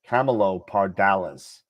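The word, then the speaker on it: Camelopardalis: told in the chat the actual pronunciation of it is Camelo Camelo parales Camelo parales all right thank you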